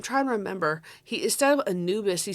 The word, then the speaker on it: Anubis: I believe, I'm trying to remember, instead of Anubis, he said like Anubis. It's like, Anubis?